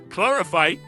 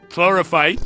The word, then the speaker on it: Chlorophyte: Actually, while I'm recording this, how do you actually pronounce it? Chlorophyte. Chlorophyte.